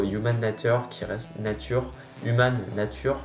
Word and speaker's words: Human Nature: nature qui reste nature human nature je prononce à la française qui reste pour moi